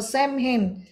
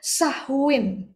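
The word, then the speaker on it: Samhain: Subjek penyembahannya ini kita perlu tahu bahwa subjek penyembahannya adalah Samin atau same hen. Nah, samehen diucapkan sebenarnya sahin jadinya samehen kita sebutnya semen aja biar gampang gitu ya.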